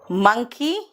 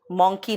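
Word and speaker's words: monkey: मंकी मॉन्की नहीं, एंड डोंकी Dunki नहीं।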